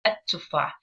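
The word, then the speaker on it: التفاح: But pronunciation-wise, we don't really pronounce the la. We don't hear it. What do we do instead? Instead, we stress on the first letter. So we say at-tufah.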